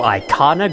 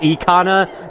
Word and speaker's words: Ikana: first welcome to Icon graveyard also by the way I am aware it's probably pronounced econ that does make more sense I personally prefer saying